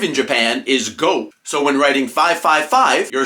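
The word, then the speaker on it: 五: The number 5 in Japan is go.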